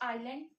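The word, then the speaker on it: island: इसको आइलैंड pronounce करते हैं। इसमें एस साइलेंट होता है।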